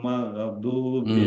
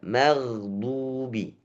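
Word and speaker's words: المغضوب: Ghairil ghairil magdubi alaihim. Gimana? Oke. Gnya sedikit catatan gnya juga tidak sampai diseret ya. Mungkin ini enggak terpental tapi seperti diseret. magha magho gho itu tidak magdu magdu oke bacaannya magdu bukan maghdu maghdu enggak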